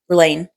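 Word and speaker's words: Rlain: Renarin and um, Rain, that's how you say it, the singer.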